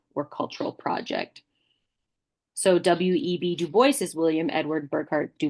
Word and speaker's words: Du Bois: Du Bois, and it is in his telling pronounced Du Bois, and his assessment of